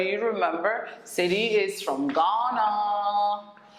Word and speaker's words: Ghana: remember city is from ghana it's from ghana ghana okay it's pronounced ghana ghana so it's from ghana and the h is kind of silent so it's ghana so it's gaddien so